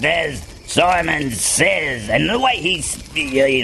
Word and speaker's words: Simon Says: So it would be pronounced as Simon Says, and the way he's, you know, just look on the Facebook, you'll find it.